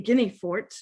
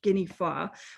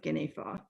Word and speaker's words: Guinefort: have noticed that we uh do not say guineafort we call this dog Saint guineafa which is the actual pronunciation of his name as far as I